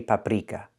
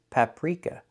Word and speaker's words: paprika: We do not say paprika. The R is voiced, not rolled. The sound is so the word is paprika. Paprika. Not paprika, but paprika.